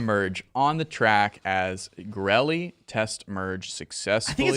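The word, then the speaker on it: Goerli: on the track as grelly test merge success i think it's finalized girly girly grelly let us know in chat how that's pronounced but i'm pretty sure it's gourly yes yes a lot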